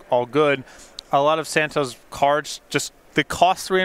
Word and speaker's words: Santohir: Ross on your right Daniel Santo it is pronounced Santo the H the and the r apparently are